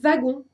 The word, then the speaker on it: wagon: Par exemple, vous n'allez pas pouvoir écrire wagon avec cette lettre-là, puisque le W de wagon se prononce V et pas W.